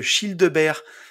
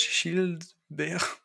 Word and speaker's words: Childebert: C'est comme Gilbert, mais prononcé à la belge. Childebert.